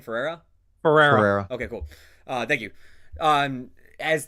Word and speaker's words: Ferrera: America, how you pronounce the name? Ferrera.